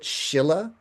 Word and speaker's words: Sīla: So there does seem to be some relationship here, which is maybe why some people pronounce it Shilla, that it has this relationship with like sharpening a knife, improving its character, honing might be a word.